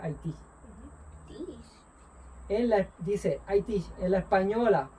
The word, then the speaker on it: Haití: Se pronuncia Haití.